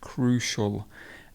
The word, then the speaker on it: crucial: which is crucial so notice that the c sound here is the hard sher sound crucial and something which is